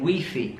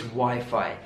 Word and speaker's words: Wi-Fi: our phone so do you have Wi-Fi the pronunciation there interesting I hear a lot of people saying we fee we fee it's not we fee in British English it's Wi-Fi do you have Wi-Fi the second phrase you